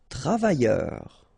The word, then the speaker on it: travailleur: Travailleur. Okay, remember double L, y, and then E-U-R, heure.